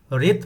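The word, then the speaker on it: wrath: पोल analysis चुनाव विश्लेषण रेथ मतलब क्या होता है गुस्सा यहां पर डब्लू क्या है साइलेंट है इसलिए हम लोग रेत पढ़ते हैं इरी गुस्सा आई आर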